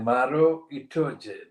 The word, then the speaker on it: Maro Itoje: His name is Maro Itoje, that is the pronunciation.